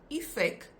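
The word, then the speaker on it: effek: However, the pronunciation is different because you have effect pronounced with the Afrikaans I, but then you have effectief, which is actually pronounced phonetically like it should be pronounced.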